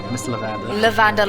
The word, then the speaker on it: Levander: Levander, like The guard L-E-V. Like lavender pronounced wrong.